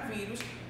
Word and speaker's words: vírus: A gente percebe que a palavra vírus, ela possui a sílaba tônica, que é logo no início, e